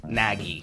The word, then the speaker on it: Nagy: I think it's pronounced Nagy. More like Matt, my wife.